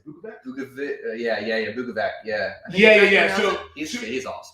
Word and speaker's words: Bukovac: Bukovac.